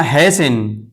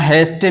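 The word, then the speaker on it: hasten: इसी तरह हैसन, हैसन, यहाँ हैस्टन नहीं पढ़ेंगे इसलिए कि टी के बाद ई एन है तो ये टी खामोश है यानी साइलेंट है, नहीं पढ़ेंगे।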